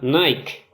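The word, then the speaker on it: νίκη: mucho la atención que la palabra victoria que aparece en este versículo en su original se pronuncia nike lo que nos hace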